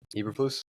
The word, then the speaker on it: Eberflus: How do you pronounce his name? The head coach. Eberflus.